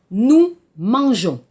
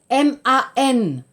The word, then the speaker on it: mangeons: Waouh, problème, nous mangeons. G-E-O-N-S. Pourquoi? 발음 때문에, à cause de la phonétique. Par exemple, nous mangeons, M-A-N-G-O-N-S, 발음 mangon. Donc, pour le son, 소리, j, nous mangeons, G-E-O-N-S.